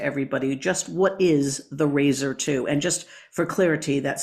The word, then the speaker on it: Raizer II: Just what is the Razer 2? And just for clarity, that's spelled R A I Z or Z E R2.